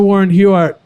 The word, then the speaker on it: Warren Huart: that's incredible oh we're here with the Mr Warren huart who you did I pronounce it right you did yeah okay I